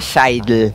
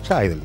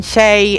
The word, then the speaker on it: Scheidl: Imagino, cuando vivía mi papá, se ponía loco, ahora me da igual, mi apellido se pronuncia Scheidel. Scheidel, está bien. Pero me dicen Shay, es Shay, Shay, Shil, Shil, bueno, no importa.